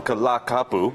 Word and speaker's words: Ka La Kapu: performance for us this is Kelly Oma from kalak kapu hope I pronounced that right that's correct excellent you guys